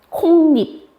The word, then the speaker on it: 콩잎: 콩잎. 그러면 어떤 뭐가 들어가서 지금? 니은 소리 들어가지 않았어?